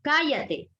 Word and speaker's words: cállate: La siguiente palabra, cállate. Última, penúltima, y la sílaba tónica la tiene en la antepenúltima.